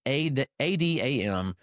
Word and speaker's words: Adamczewski: Josh, and then it's Adamczewski. So an interesting pronunciation there.